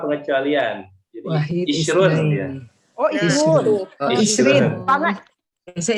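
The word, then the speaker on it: عشرون: Jadi Wahid isrun ya. Oh, isrun. Isrun. Bisa isrin. Mana ini ya? Wahid. Wahid jadi 10-nya asyarah. 10-nya asyarah. Jadi asyarah, isrun.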